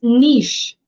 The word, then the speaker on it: niche: No, it's niche. So the pronunciation spelling for this one would be niche.